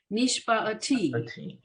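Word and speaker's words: נִשְׁבַּע: needs to do something the iron is silent by itself it has the two dots the schwa under it so we're going to give it that really short uh so nishba it's kind of for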